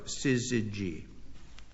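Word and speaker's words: syzygy: Dennis Pal, yours is hard to pronounce also and I'll spell it. It's a sizzy. S Y Z Y G Y. Sizzy G.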